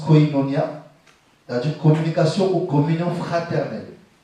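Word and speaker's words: κοινωνία: En grec, qui se prononce koinonia, c'est-à-dire communication ou communion fraternelle.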